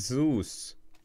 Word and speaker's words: Zeus: I ever get bored it's Z us like okay it's Zeus okay so there you go like this is this is pretty cool I'm learning I'm learning more about Greek gods while playing Counter Strike I got to give it to guys heads up man best community ever Zeus so that's how you pronounce it Zeus Greek Greek exactly not Roman Greek right stop spamming me